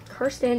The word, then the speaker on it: Kirsten: I pronounce it Kirsten just because that's what my parents thought it was when I was younger.